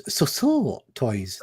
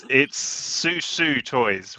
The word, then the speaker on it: Susu Toys: I think you'll find it's Soso Toys. That's how I like to. Yeah, Ben. That felt racial. It's Susu Toys, which is how it's spelled, right?